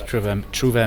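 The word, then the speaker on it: Trouvère: How long is your season performing as Trouvere Minstrels? Am I saying it right? You do. It's beautiful pronunciation, if I may say so.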